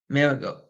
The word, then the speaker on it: Maragos: Former Eagles captain Chris Marigold, I believe is how it's pronounced, was awarded $43.5 million for alleging medical negligence by the practice.